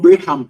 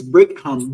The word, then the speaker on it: Brigham: It's not Brigham, it's Brigham. BRIGHAM and HAM.